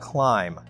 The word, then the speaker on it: climb: So move would be pronounced in past tense as moved, moved, moved. Yes, correct. Now let's see about climb.